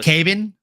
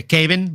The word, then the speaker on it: Kevin: Brazilian name like Kevin, they pronounce the V as a B. So, it's Caven Vallejo. Oh, Kevin Vallejo. Yeah, Caven Vallejo.